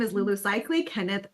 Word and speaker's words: Seikaly: So, uh my name is Lulu Cycley. Kenneth pronounced my last name perfectly like he does every time we chat.